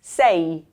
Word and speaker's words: sei: This word here, the EI, it's sei. So you do pronounce the E and the I. Sei.